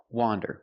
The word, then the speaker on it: wander: Wander with the open sound ah, wander.